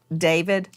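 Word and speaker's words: d4vd: Some people look at his name and it looks it looks like D4 VD and he pronounces it David.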